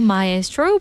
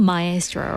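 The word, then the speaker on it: Maestro: You just listened to myro by 17 and sorry to 17 fans out there. I pronounced the title wrong. Mystro right.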